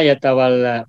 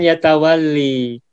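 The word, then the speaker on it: يتولى: Kalau tambahannya diawali oleh huruf ta, maka formulanya ya A. Sehingga modalnya pun ya A. Tawalla ya tawalla. Bukan ya tawalli.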